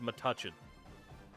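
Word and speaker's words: Metuchen: It's literally pronounced matachin.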